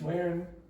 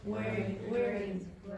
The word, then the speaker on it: wearing: Wearing. So it is common in Irish English especially, but it happens in other dialects, to change that ing to an n. Wearin, instead of wearing.